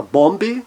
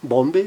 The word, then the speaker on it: Bombe: consoantes, não necessariamente iguais, como, por exemplo, na palavra bombe, bombe também, duas consoantes diferentes, mas fazendo com que o O se torne aberto e breve.